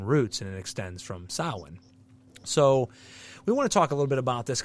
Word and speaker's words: Samhain: sa now sa you know some people say sam Hae because they don't know how it's pronounced Sam H it's sin and sin is is an Irish word that